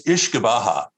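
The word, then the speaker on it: uisce beatha: So actually, the Irish word is Ishkabah. Ishkabah. Actually, it's Ishkabaha is how they pronounce it in Ireland and Scotland.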